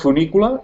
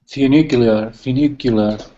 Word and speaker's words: funicular: It's called funicular. Funicular. Oh, I don't know the name. Spell it for us, please.